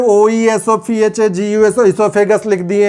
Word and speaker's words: oesophagus: अब आप पूछोगे सर तो यहाँ पे OESOPHAGUS ईसोफेगस लिख दिए हैं और यहाँ पे सर ने O नहीं लिखा। एक्चुअली ईसोफेगस में O साइलेंट होता है। O is always silent in ईसोफेगस।